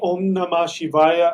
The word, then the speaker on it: Om Namah Shivaya: Can you say the Om Namah Shivaya a couple of times so I can hear how it's pronounced? Om. I'll spell it for you. That M is actually an NG sound. Om Namah Shivaya.